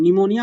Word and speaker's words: pneumonia: निमोनिया बोलते हैं PNEUMONIA। Basically यहाँ पे P जो होता है ना वो साइलेंट होता है, तो इसलिए इसका नाम क्या होता है, प्लूरो निमोनिया लाइक ऑर्गेनिज्म होता है।